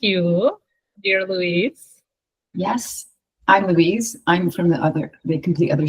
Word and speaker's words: Louise: Yes, I'm Louise. I'm from the complete other side of the world in Scotland. People pronounce my name Louise. Surprisingly, sometimes Lousie. If it's spelling on the computer, I get Lousie a lot, so I do answer to that.